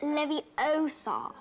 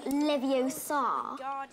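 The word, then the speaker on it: Leviosa: on to the concepts saying it wrong it's Lev OA not leevar you do it then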